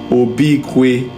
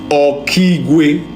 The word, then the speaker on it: Okigwe: I'm seeing something that called Obikwe. Obikwe. Holy Spirit, help me spell it, pronounce it for me. Obikwe. Okigwe. Thank you, Holy Spirit. This place is like, it's called Okigwe.